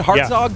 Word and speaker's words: Hartzog: guy named Malcolm harzog Hartzog Jr that's how you say it harzog Jr he's has four